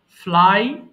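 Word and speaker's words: flew: ফ্লাই, উড়ানো, ফ্লাই, ফ্লু, ফ্লোন। এটা মারাত্মক লেভেলের ভুল করি সারা জীবনে, এটা সারা জীবনে আমরা ফ্লিউ বলে আসছি, বাট এটা হবে ফ্লু, ফ্লু।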